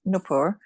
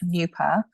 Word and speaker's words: Nupur: Means, so the way you pronounce my first name is Nupur, but if anybody says that, it's kind of like, or the anglicized version is Nupa, but I've always been called Nupi.